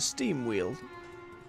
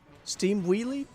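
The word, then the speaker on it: Steamwheedle: big shot for the steam wheel but I've just realized it seemed Weedle rather than steam wheel wheeled wheelie steam wheelie I've said it wrong this whole time it's fine I'm going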